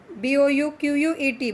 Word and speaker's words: bouquet: B-O-U-Q-U-E-T, bouquet. Okay, T is silent here. So pronounce bouquet like this, bouquet.